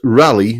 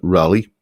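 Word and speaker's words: Raleigh: be completely incomprehensible but rally notice how uh how it's spelled here as in Sir Walter rally um rally bicycles were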